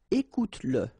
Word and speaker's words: écoute-le: Remember that if you've got, in some situations, the pronoun le, and if it comes after your verb, like in that case, then you will have to pronounce it.